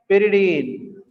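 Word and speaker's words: pyridine: पिरिडीन। कुछ लोग पायरिडीन भी बोलते हैं प्रोनाउंसिएशन, है ना?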